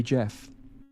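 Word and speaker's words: Gef: it's a soft G you know it's a soft G not long after this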